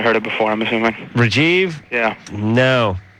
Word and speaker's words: Rajiv: Ask I don't him, know ask him how to pronounce his name. What's your name? Rajiv. Rajiv.